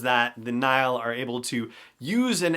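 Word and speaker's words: Nihil: series of stories the Nile that's how it's pronounced like the River Nile but spelled NIH al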